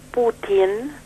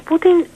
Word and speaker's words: Putin: Put es una T con un signo blando, significa camino. Y Putin no es otra cosa que del camino, Mirá. si lo quisiéramos traducir. Mirá vos. Así que hay que pronunciarlo como corresponde, Sí, ¿no?